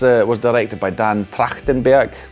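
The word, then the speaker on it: Trachtenberg: This film was uh was directed by Dan Tractenburg. That's how you pronounce his name in German at least. I suppose in America they'll call him Tractenburg or something like that.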